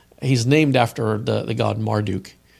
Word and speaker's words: Marduk: also because he's in Persia, that first two syllables, Morduk, he's named after the god Marduk.